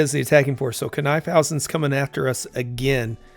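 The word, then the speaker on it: Knyphausen: So, Kifhousen's coming after us again. I've heard it pronounced on Kim Bird's documentary. It was Caniphousen. So maybe that's what it is.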